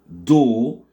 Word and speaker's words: door: La porte en anglais, ça se dit door parce que les deux O sont prononcés avec le phonème O. O, le O long.